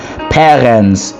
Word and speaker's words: parents: Parents is parents. It's the same spelling but different pronunciation.